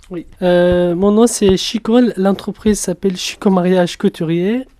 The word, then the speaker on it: Shikho: le site aussi oui euh mon nom c'est Chico l'entreprise s'appelle Chico mariage couturier elle est située